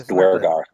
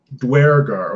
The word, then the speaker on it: Duergar: instances of this in the book, but the pronunciation for Duergar, I don't think there were any characters that were Duergar. It's Duergar.